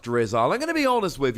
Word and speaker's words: Drizzile: a look at drizzle I think it's pronounced drizzle I'm gonna be honest